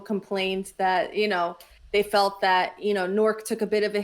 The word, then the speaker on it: Newark: It's Newark. It's literally, if you lived in this area, I live one city over from Newark. Everybody calls it Nork. That's just I didn't create this. This is how it's said.